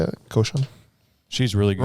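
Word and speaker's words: Rochon: Koshan? She's really good. Roshan.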